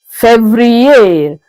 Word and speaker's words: février: February is février.